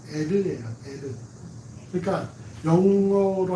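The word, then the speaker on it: Er: 에리라 불렀는데 이게 여러분 엘이 아니라 정확한 발음은 에르예요.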